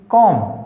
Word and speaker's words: comb: COMB कॉम, यहाँ पर क्या है, बी साइलेंट।